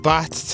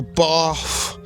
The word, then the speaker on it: Bath: I've had a nice little day out in Bath today, or Bath, as you British boys and girls pronounce it.